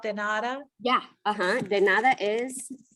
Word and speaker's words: de nada: So it's the D, the E, de, because our E's sound like A's, and then nada. De nada.